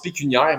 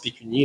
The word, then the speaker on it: pécuniaire: intérêt pécunia en fait on dit pécuniaire mais quand qu'on le prononce en dit pécunier là donc question est-ce